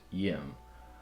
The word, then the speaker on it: Ngim: And that name, they interpreted it as spelled as Ngim, and it's pronounced Yim.